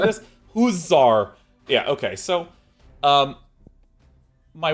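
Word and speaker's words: hussar: And also, how do you pronounce that word? Because I know it's not literally hasser, but uh does anyone know has anyone ever said this? Huzzar.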